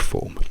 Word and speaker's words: for: Quindi la strong form, quella che mantiene il suono forte, è intanto la versione che trovate sul vocabolario. Cioè, se voi cercate la parola for, F-O-R, la pronuncia che il vocabolario vi dà è con la O lunga.